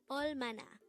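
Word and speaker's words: 얼마나: all Mana all Mana this is pronounced as a three-syllable word the first syllable is oil second syllable is ma third syllable is na pronounce it with me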